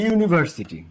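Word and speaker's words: university: আর্জেন্টের শুরুতেও ইউ কিন্তু যখন তুমি ইউনিভার্সিটি উচ্চারণ করতেছো তখন এই ইউ ইউ হচ্ছে উচ্চারণ যখন তুমি আর্জেন্ট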